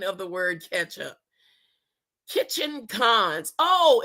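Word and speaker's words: Ketchikan: Kitchen Cons. Oh, it's spelled it's pronounced Kitchen Con, Alaska.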